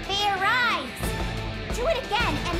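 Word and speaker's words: Fairize: sort of like idiot it's pronounced fair eyes there's no ice in it what does this fair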